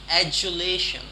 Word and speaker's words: adulation: Now you see there are 3 syllables, if you can see. Okay, adulation. Okay, there are 3. Shun, of course. Lation, it's not lation. Adulation. Adulation, it's not adulation. Adulation, no. Adulation. So this word is sounding J. Okay, and British people might